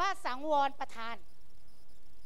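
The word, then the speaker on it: สังวรปธาน: มา ดู ตัว แรก ตัว แรก อ่าน ว่า สังวร ประทาน นะ คะ สังวร ประทาน นะ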